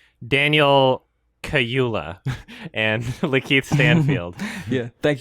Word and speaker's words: Kaluuya: And what I really love about the acting in this movie is like Daniel Kaluuya and Lakeith Stanfield.